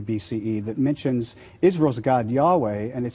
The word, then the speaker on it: Yahweh: main God who has a name Yahweh pronounced something like your way but they also worshiped